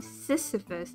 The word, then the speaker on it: Sisyphus: One must imagine Tabby Sisyphus.